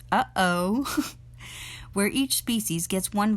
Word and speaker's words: UOO: organ ization of organisms uoo pronounced uhoh where each species gets